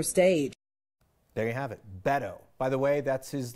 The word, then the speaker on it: Beto: get into it please welcome my friend that's Beto award from Texas he'll be sharing center stage there you have it Beto by the way that's his longtime nickname his